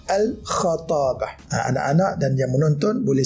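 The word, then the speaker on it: الخطابة: Innal khatabata, al-khatabah cara bacanya ialah al-kha, membaris fathahkan huruf kha. Ramai yang baca al-khitabah dengan baris bawah. Yang betul dan sebenarnya ialah berbaris fathah, al-khatabah.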